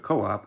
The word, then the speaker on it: Coop: fun fact for you Coupe is not pronounced Coupe but Co-op as it is short for Cooperative well yes Co-op is